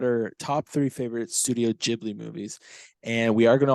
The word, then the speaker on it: Ghibli: I'm gonna say Ghibli. It's gonna happen, but It's all good, dude. whatever. Still love ya. Okay, so we're gonna talk about our top three favorite Studio Ghibli movies, and we are gonna also mention honorable mentions.